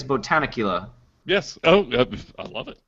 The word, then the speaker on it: Botanicula: Bodnicula. What? Repeat it. Bodnicula. So, yeah. Botanic. I think it's Botanicula.